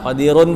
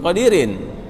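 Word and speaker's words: قديرٌ: Qadirun, Pak. Qadir. Hah? Gimana? Wa ala kulli syai'in qadirun, bukan qadirin.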